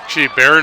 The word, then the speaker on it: Baron: to number seven that's byron holman and holmen gets a little bit of wiggle room and he gets brought down baron holman is how you pronounce his first name so baron holman great